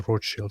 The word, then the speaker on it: Rothschild: So, the the Rothschilds, can I just I'll just refer to them as as as the Roth Shield family because that's how it's uh pronounced and I have a very big We got to go with the authentic Sneo pronunciation.